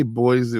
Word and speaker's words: Boise: Is it Boisey or Boise? It's Boise. I've heard it said Boisey.